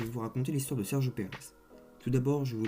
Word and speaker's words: Sergio Pérez: Prononcé en espagnol Sergio Pérez, il est le fils d'Antonio Pérez Garibay et Marilu Pérez.